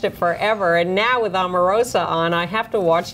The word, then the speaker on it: Omarosa: Ann taught me how to pronounce her name properly on the way up here today. Omarosa.